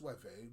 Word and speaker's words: Suebi: the Anglo-Saxons, the Lombards, the Suebi, or sometimes pronounced Sueve with a V, the Frisi, the Jutes, the Burgundians, the Alemanni, the Sciri, and the Franks.